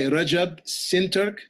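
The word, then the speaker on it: Recep Şentürk: in in turkish it's insane okay it's by rajab sinterk that's spelled r-e-c-e-p s-e-n-t-u-r-k the upcoming english publication is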